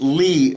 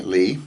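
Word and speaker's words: לי: It's pronounced Li, by the way, Li, okay?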